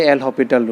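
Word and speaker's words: L'Hospital: seven you can apply l hospital rule sometime it is say l hospital rule or hospital root this s is silent so this can be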